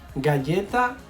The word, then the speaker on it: galleta: ¿Galleta o galleta? Y la respuesta correcta es galleta. Ok, guys. G plus A. Galleta.